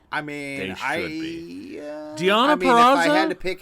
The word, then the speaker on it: Deonna Purrazzo: Okay, we're starting off with fucking Deonna Purrazzo. Thank you for pronouncing it correctly.